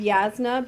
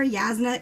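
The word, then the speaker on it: Jasnah: I say Shalon and Yasna because the J to me reads like a Spanish J.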